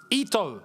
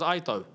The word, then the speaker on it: Ito: Ito. Oh, so I said it right the first time. I got told it was Aito. Okay, it's Ito then.